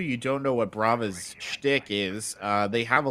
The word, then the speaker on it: Brava: Yeah, I am saying it right, Korvik? Yeah, I believe you are. Brava is correct.